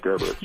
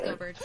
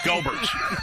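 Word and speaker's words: Goebbert's: I'm pretty sure it's pronounced Gerbert's, but no, it's Gobert's. It's Gobert's.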